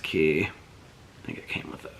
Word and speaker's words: Quay: key sunglasses that spelled Quay but apparently they're pronounced key I think it came with those but these